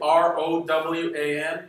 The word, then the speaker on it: Rowan: But there was another very important person, and somebody I'm a great fan of, William Rowan. Am I pronouncing that name correctly? R-O-W-A-N, Irish, Rowan.